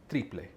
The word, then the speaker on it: triple: it's written exactly the same way but it's pronounced triple so a triplet can be made in a